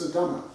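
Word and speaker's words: すだま: Now, fairy is written yosei, but actually pronounced sudama, which is something a bit different.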